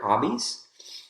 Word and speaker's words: hobbies: That's a really good one because we have two syllables in that focus word, hobbies. The first syllable is the strongest, and that gives us